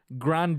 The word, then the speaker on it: Grande: her do you feel like Ariana anyway Ariana Grande II that's how she pronounces her last name Grundy grandi Grande Ronde know that's what grande no no